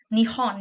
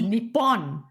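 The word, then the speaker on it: 日本: And then in Nihon Nihon is Japan in Japanese. Oh, Nihon. I always thought it was Nipon.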